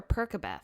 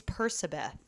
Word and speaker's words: Percabeth: Is it Percabeth or Percabeth? It's Percabeth. It's phonetically Percabeth.